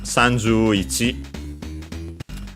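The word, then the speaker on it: 三十: But uh as we have seen before uh on its own if I recall correctly Sanjzu is accented on the s on the first syllable.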